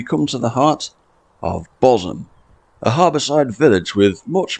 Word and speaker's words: Bosham: nondescript roads we come to the heart of bosam a Harborside village with much more lurking beneath its surface than just a trick pronunciation bosom's known history goes back about 2,000